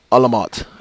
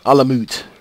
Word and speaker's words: Alamut: How you pronounce the RPG name? Alamot. Alamut.